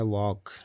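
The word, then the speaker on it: walk: जैसे मैंने इधर नीचे लिखा है वॉक डब्ल्यू ओ ए एल के वॉक यहां पे एल आवाज नहीं दे रहा है।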